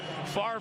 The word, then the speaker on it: Favre: Favre rhymes with starve. Don't worry about the order of the letters. Just say it right.